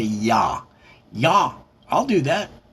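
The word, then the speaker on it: Yah Yah: Now, of course, Eminem's from Detroit, and they don't pronounce it yeah yeah. They pronounce it ya ya.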